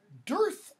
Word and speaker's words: dearth: dearth of something or use its correct pronunciation a dearth of some de AR